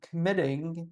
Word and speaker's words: committing: Secondly, doing sport may prohibit them from committing double T, because stress is on MIT here, and this is consonant vowel consonant style.